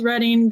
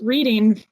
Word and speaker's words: Reading: small town in Massachusetts called reading that people like to pronounce reading because they think it's funny it's not um I if